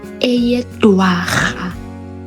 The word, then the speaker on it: Eyedwarha: Okay, so October, eyedwarha. Eyedwarha. So the RHA is pronounced as ha.